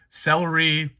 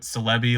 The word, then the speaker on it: Celebi: I know Celebi is how most people do it, but I do it Celebi, like celebrity.